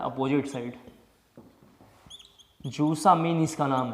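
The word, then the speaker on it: zusammen: जूसा mean इसका नाम है, जूसा मीन। इनाइट, इनाइट जेम, डबल एन इसमें साइलेंट है, ठीक है, साइलेंट है, इसका मतलब है सेम साइड, सेम साइड।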